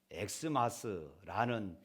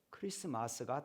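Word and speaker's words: Xmas: 이런 문구들 보게 됩니다 이렇게 적어놓고 사람들이 엑스 마스라고 이렇게 읽습니다 그러나 여러분 이것은 아주 잘못된 것입니다 여기에서이 x는 영어의 x가 아니라 헬라어의 x입니다 영어의 x로 우리가 발음을 할 때는 엑스 마스가 되지만 헬라어 x로 우리가 발음할 때는 그리스도의 약자로 그리스도 크리스마스가 되는 것이지요 우리가 분명히 그런 부분들을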